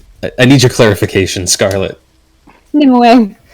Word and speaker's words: Nimue: Nimue. Nimue, okay. That's how I've always heard it pronounced.